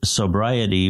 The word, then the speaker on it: Psobriety: of the book again it's sobriety with a silent p in reference to the psalms sobriety a journey of recovery through the psalms where can people find